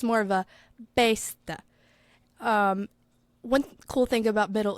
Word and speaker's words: beste: Old French, more of a beste, and that last little e is real subtle. And then by the time you get to Middle English, it's more of a beste.